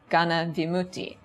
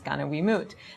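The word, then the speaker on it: gaṇavimutti: This type of immunity was called a group exemption, Gana Vimutti, right, which in the Burmese pronunciation then becomes Gana Wiimote.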